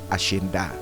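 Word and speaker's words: hacienda: Ngunit ang pagbigkas niyan sa Espanyol ashinda.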